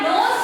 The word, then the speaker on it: know: यहाँ पर K silent होता है, K साइलेंट होता है, KNOW नो होता है।